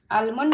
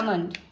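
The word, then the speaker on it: almond: কি ভিজাচ্ছি, ছোলা, কাজু, আলমন্ড না আমন্ড, আলমন্ড, এলের উচ্চারণ হবে, আলমন্ড না বাদাম, জানি তো আলমন্ড।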